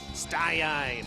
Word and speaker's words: Staiain: How do I pronounce that? Staiain? Staiain. Okay, good.